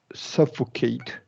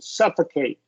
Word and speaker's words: suffocate: this heat so so remember when you get these three syllable words with eight you can uh you're you're you can do awah for that middle syllable suffocate yeah suffocate suffocate yeah